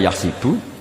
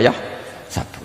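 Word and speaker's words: يَحْسَبُ: Karena dalam qiraat sab'a ada yang baca yahsibu, qiraat kita baca yahsabu. Tapi guru-guru kita kalau ngajar fikih itu bacanya yahsibu. Tapi kalau baca Quran yahsabu. Ya kan Quran kita kan ayah sabu Allah yaqdiru alaihi ahad, bukan dibaca ayah sibu.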